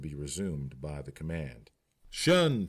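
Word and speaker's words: 'shun: Shun squad abbreviated from the attention and pronounced shun if the pleb was slow.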